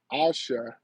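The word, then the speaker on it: Aisha: Omega says uh A I S H A. That's what I'm going to say. Asha, right? Was okay. That's the pronunciation of her name.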